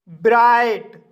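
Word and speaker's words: bright: आई पढ़ा जाता है क्योंकि गाइस जी एच साइलेंट रहता है इसलिए आई का लॉन्ग साउंड आई पड़ा जाता है जैसे ब्राइट ब्राइट शब्द में आई के बाद जी एच आया है इसलिए आई का लॉन्ग साउंड आई पढ़ा जाएगा और जी एच साइलेंट रहेगा इसलिए इसे ब्राइट पढ़ा जाता है और ब्राइट मींस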